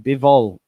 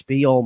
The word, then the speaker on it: Bijol: Uh Sky have just pronounced it bivval. I believe it's be all man. I spoke to Nick who's from Slovenia and he said yaka behol. Yeah, he said you've got it right.